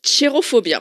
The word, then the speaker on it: Cherophobia: la pièce donc ça ça se prononce chérophobia parce que je dis chérophobiaophobia oui c'est chérophobia c'est un je pense